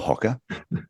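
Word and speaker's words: Hoka: he'll tell you it's Hocker owner. So anyway, regardless of how you like to pronounce it, Hoker or Hocker, depending which way, where you're from. It's Hoker, Tyson.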